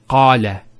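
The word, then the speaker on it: قال: First one here is qala. Notice the elongation of the A sound.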